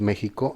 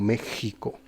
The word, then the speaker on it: México: porque, por ejemplo, México, el país México en español se pronuncia así la X como México, pero en francés como no existe ese sonido o no se utiliza casi dicen Mexic o incluso en Estados Unidos que dicen en inglés, perdón, México.